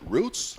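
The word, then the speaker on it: Ruiz: And Roots, I think that's the way to pronounce it, Roots, R-U-I-Z.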